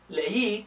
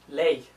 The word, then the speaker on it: leí: So, leí is two syllables, but if I didn't have that accent mark, it'd be ley, which sounds a little bit different.